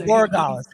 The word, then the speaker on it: Borregales: It's Borregales.